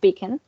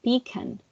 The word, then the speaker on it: pecan: So for example, we have pecan, which is pronounced pecan, but with the New York accent, they would pronounce it like pecan. So emphasizing the first syllable in that word.